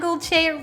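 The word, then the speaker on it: Gülçe: first time hello i'm gulche rhymes with dolce and with making it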